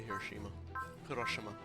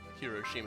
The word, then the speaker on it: Hiroshima: go okay back to hiroshima i should say hiroshima that was a very australian pronunciation yeah we're going to